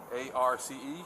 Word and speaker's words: Arce: A-R-C-E? Yes. How do you spell it?